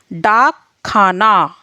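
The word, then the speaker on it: डाकखाना: डाक खाना, ये हमारा डा ही रहेगा क्योंकि डाक खाना ये हमें यहाँ डा का उच्चारण दे रहा है, यानी कि डा की इसमें आवाज़ आ रही है।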